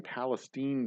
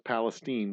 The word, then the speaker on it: Palestine: And then Saturday, I'm going to be in Palestine, Texas. Not Palestine, Texas, mind you. It's Palestine. We pronounce it that way.